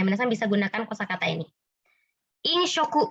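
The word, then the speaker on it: 飲食: Inshoku bacanya.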